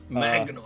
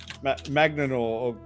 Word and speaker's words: Magnanor: his- what was his name again? Magnor. Actually, Magnanor. Magnanor? You're an elf trying to pronounce a giant name.